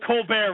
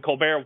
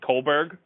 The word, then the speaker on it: Colbert: And it's funny because when Colbert won for Variety Series, Jimmy Fallon ran up there. Yeah. And the joke was because Gwen Stefani said Colberg or Colborg. Yeah. Jimmy Fallon's like, she pronounced it wrong.